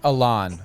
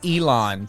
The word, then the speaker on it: Ilan: for me as well I really love your first name Alan I said kept saying Elon but it's Elon he you you um honestly everybody pronounces it differently and uh you got both of the main pronunciations so um it's uh it's all it all works for me like I said